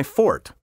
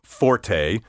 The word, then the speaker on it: forte: proper pronunciation is my fort that's right I mean fort not forte or worse Forte the